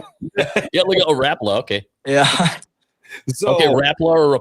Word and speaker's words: Rapala: Yeah, we got a Rapala, okay. Yeah. Okay, Rapala or Rapala? It's Rapala.